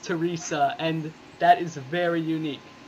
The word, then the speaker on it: Therese: were just talking beforehand her name is spelled Therese but it is pronounced Teresa and that is very